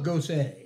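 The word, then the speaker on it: Gose: the honesty john but this is spelled g-o-s-e so you know we're just don't be dusting her that means you're putting beer on her what does this call pop pillow go say and i just had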